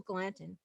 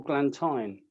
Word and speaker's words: Glanton: Some people would pronounce that Temple Glantine. Oh, or Glanton.